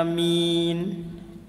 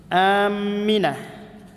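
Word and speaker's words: آمين: Yang pertama, hamzah dipanjangkan, mim ditasydid, dan huruf ya dihilangkan sehingga menjadi aminah. Aminah.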